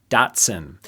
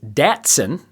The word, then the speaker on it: Datsun: what six letter name Datsun Dotson which I mispronounced is Datsun and people lost their